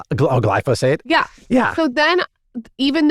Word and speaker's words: glyphosate: Glyphosic. Glyphosate.